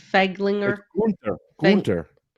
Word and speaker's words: Gunther: Feg, Gunther. it's Gunther. I'm saying it the American way.